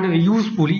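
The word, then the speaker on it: useful: বসছে কিন্তু উচ্চারণ যদি ভাওয়েলের মত হয়ে যায় ইউজফুল ইউ উচ্চারণ হচ্ছে এখানে তাহলে এখানে এন হবে না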